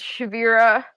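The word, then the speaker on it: Shevirah: So you have both Bulb Security for your consulting, and then how do you pronounce the other one? Nobody can. Don't worry about it. It's Shavira.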